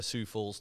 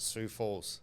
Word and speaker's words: Sioux Falls: idaho team we would have you know a sioux falls team and yeah so whoever's team that was